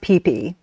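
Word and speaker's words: Phi Phi: the third day, um, you go to the PP Islands. Um, and and can I just say it's spelled P H I P H I. And it's but it's pronounced pee pe just so people understand.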